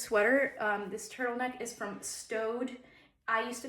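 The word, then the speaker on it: Staud: And then up comes sales associate, it's pronounced Stowed.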